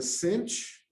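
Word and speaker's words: sinh: And as I mentioned, it's pronounced cinch or hyperbolic sine.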